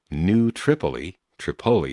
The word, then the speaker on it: New Tripoli: And fortunately, on one of the stops in the next day, New Tripoli it's pronounced, Pennsylvania, I did find one of those